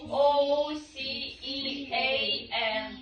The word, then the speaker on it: ocean: H нужно обязательно настоящую поже in the in the h о ocean o c e a o c e a n пишеться як океан читається як ocean head in the ocean я days ag не А можна цифри?